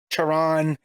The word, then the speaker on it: Charon: I've heard it Sharon. It's Charon. Yeah, the boatman just makes sense.